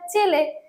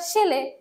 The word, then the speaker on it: ছেলে: যেমন ছেলে শব্দটাকে যদি দিয়ে বোঝায়, ছেলে শব্দ কোনো কোনো অঞ্চলে উচ্চারিত হয় চেলে, কোনো কোনো অঞ্চলে হয় শেলে।